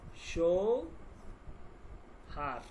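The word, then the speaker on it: شوهر: আমরা ই করে দেই আরেকটু ক্লিয়ার লিখে দেই সৌ হার হার সৌ সৌহার ওকে সৌহার উচ্চারণটা এইযে উচ্চারণ সৌহার হবে ওকে তো সৌহার সহ মানে হচ্ছে স্বামী।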